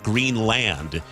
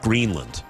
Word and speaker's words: Greenland: I'm noticing on CBS News they're pronouncing it Greenland instead of Greenland. I've always pronounced it Greenland. Should I change my pronunciation? I've always gone Greenland. You've gone Greenland? Don't change your pronunciation.